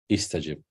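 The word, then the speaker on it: استجب: So in this case, it's going to be pronounced as E. As if you are saying E. Istajib.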